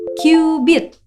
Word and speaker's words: cubit: Tulisannya sih cubit, tapi bukan cubit-cubitan ya. Bacanya cubit. Dan sekitar 4.000 tahun yang lalu, bangsa Mesir jadiin 1 cubit ini sebagai satuan panjang mereka.